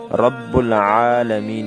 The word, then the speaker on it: رب العالمین: کے ساتھ پڑھتے ہیں۔ تو کچھ لوگ حمزے کے ساتھ پڑھتے ہیں اور کچھ لوگ غین کے ساتھ پڑھتے ہیں۔ یہ دونوں غلط ہیں۔ درست تلفظ رب العالمین ہے، یعنی عین کو حلق کے درمیان سے نکالنا، جس کو تجوید کی زبان میں وسط حلق کہتے ہیں۔ معزز دوستو، آئیے اب